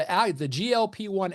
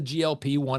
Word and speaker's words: GLP-1: That's the GLP-1. It's not pronounced gulp, even though you gulp food, and that's kind of the whole point here.